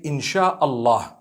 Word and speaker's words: Insha'Allah: And when you're saying it, you say Insha'Allah.